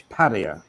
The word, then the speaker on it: Pattaya: With all the people listening and they'll listen also on the replay, can we get the pronunciation of Pattaya right? We don't want any Pattaya. It's Pattaya, and that's the end of it.